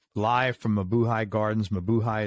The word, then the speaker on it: Mabuhay: Mabuhay is spelled M-A-B-U-H-A-Y, Mabuhay Gardens.